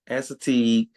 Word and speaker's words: Assateague: Assateague.